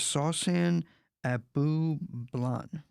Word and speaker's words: Sawsan Abublan: Today, my guest is Sawsan Abu Blan. Did I say it right? Absolutely.